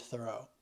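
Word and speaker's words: Thoreau: David Thor's name is actually pronounced more like the word thorough I did a thorough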